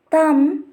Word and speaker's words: thumb: The first condition is B is not pronounced after M at the end of a word. If you see the examples, cum, thumb, climb, crumb, lamb, etc.